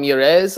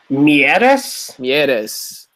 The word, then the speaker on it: Mieres: Gaston Mires led the way for Toronto. Is he even French? Why am I pronouncing him like that? Mieres.